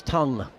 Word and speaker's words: Tongue: Uh it's tongue which rhymes with young and it's defended back to bowling run.